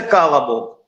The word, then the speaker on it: колобок: Говорится так, а пишется колубок, а говорится калобок.